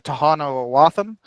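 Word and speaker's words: Tohono O'odham: uh called um the Tahano Aam. Um it it looks it's it looks like it's spelled aam um with a d. But that d is actually pronounced with a th aam.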